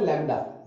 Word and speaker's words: lambda: इसका सिंबल है लैम्डा, wavelength, wavelength देखो मैं आराम से बोलता हूं, वेवलेंथ, वेवलेंथ, इसका सिंबल है लैम्डा, लैम्डा को LAMBDA, लैम्डा, इसमें D साइलेंट है, LAMDA, ऐसे करके लिखते